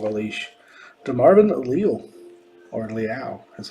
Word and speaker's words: Leal: DeMarvin Leal, or Leal, that's how they pronounced it at the draft this year.